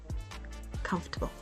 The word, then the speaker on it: comfortable: and say it clearly com and the rest table make it softer and quicker comforable comfortable next up February this